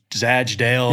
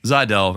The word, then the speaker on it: Zajdel: See, if you said if you just said in a vacuum without actually having spelled it, it's Zadell and the J is silent.